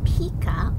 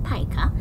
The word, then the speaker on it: pika: Pika, pronounced pika or pika, look a bit like plump, short-eared rabbits.